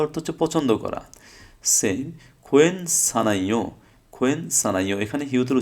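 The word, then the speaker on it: 괜찮아요: Same খোয়েন সানাইও, খোয়েন সানাইও, এখানে হিউতের উচ্চারণটা হয় নাই, কারণ হিউতের পর কি আসছে, ইয়ং আসছে।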